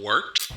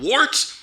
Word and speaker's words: Wort: It is the Wort. Not wart, not fort, not short. The Wort.